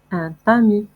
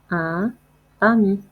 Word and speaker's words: tamis: غربال أو منخل un tamis اس اللي في الآخر ديال الكلمة لا ننطقها un tamis un tamis un tamis.